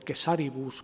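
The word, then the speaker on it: Caesaribus: Tenemos también unas poquitas referencias de una obra poco conocida, que es el Epítome de Cesaribus o de Quesaribus, que se diría, según dicen los filólogos, en correcta pronunciación latina, que escribió Aurelio Víctor,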